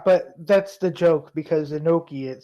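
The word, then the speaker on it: Inoki: coming down all right Antonio inaki noi inaki Antonio inoi that's how you actually pronounce it yeah but that's the joke because inoi it sounds like a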